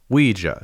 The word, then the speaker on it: Ouija: There was an extended conversation with the spirit being and it's pronounced Ouija.